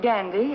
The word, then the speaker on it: Gandy: heads I suppose I my name is Gandy that's spelled g a n d y it's like candy only with the G up front would you like some